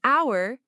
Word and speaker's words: hour: Examples with an are an apple, an egg, an orange, an hour, yes, because the h is silent, and an umbrella.